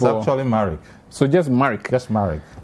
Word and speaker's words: Marricke: was concerned about your name how is it pronounced in like the makeover it's actually married so just america that's married and then coffee